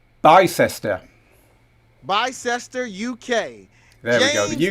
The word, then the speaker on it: Bicester: it's pronounced by sister bicester uk there we go the uk big city i wouldn't have got keisha right so we're we're equal there by sester i'm pretty sure it's bicester keisha vereen from charlotte